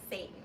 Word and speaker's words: Seyton: I'm playing the second witch, Malcolm, and Seyton. Oh. Which is spelled differently, but still sounds like Satan.